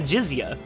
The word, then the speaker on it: jizya: It's called the jizya. It's spelled, I believe, Jizyah.